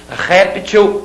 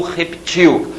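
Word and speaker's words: réptil: são corretas em português reptil ou reptil uma forma de vida tá não é não é outra palavra é a mesma palavra com uma variação de pronúncia reptil ou reptil glifo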